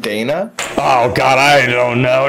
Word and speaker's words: Dina: her name is pronounced Dana.